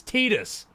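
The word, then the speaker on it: Tidus: asked everyone, "Hey, how how's Titus pronounced again? Is it Titus or Tetus? And they were like, "Oh, it's Tetus."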